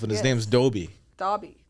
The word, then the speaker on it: Dobby: Dobby, not Dobby. It's Dobby.